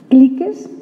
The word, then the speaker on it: cliques: ¿Cómo se dice esto? Cliques, así, hispanizado totalmente.